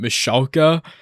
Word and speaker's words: Michalka: I had to look up the pronunciation for this name. AJ Michalka.